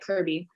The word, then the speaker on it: KIRB: KRB? Or like Kirby. Kirby, so cute.